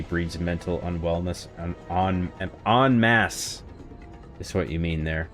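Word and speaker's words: en masse: Not in mass. Onmass. It's a French term, I believe. Uh, it's spelled mass. Got an E at the end. E N M A S S E actually um I was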